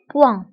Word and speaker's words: point: فانتبهوا بالنسبة البوان كنكتبوها دائما بالتي في آخر الكلمة، ولكن هذه التي لا تنطق، تنقولوا un point.